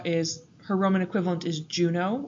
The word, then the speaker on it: Juno: her roman equivalent is Juno or yuno in Latin pronunciation she is queen of